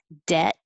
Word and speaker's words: debt: t instead uh number 17 you don't say the b at all just forget about it um and you put your tongue on the t position dead and hold it and same thing 18